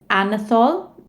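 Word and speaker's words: Anatol: to another audience member anathol i hope i'm pronouncing that correctly yes it was pronounced well my question is regarding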